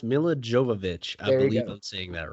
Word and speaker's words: Milla Jovovich: last name uh it's it's pronounced Milla Jovovich I don't seeing that right I've always had